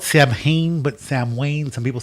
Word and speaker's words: Samhain: All right, so that is the earliest thing I could find on Halloween was this thing called, it's spelled Samhain, but Samhain. Some people say Samhain.